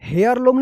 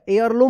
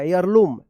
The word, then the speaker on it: heirloom: They found a family एयरलूम, यहां पे देखिए हेयरलूम नहीं होगा, एयरलूम होगा, एयरलूम, ईयरलूम, HEIRLOOM, यहां पे H जो है ना साइलेंट रहेगा।